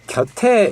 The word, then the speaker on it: 곁: Yeah, 곁. It's one syllable. Yeah, one syllable, simple word, 곁.